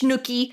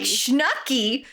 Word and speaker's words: shnook: I was reading it I was reading it uh with a short u instead of a long a long so I read I was like shnuck no it's shnook like shnookie makes more sense my little shnook pie